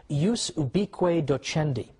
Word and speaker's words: ius ubique docendi: there was something called, in Latin, and I'm using the church pronunciation, ius ubique docendi, which literally means the right of teaching everywhere.